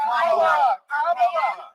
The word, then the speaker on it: Kamala: Well, speaking of mispronouncing Kamala's name, take a look at this wild video. And Kamala Harris, if Kamala, you said this when I called you Nancy.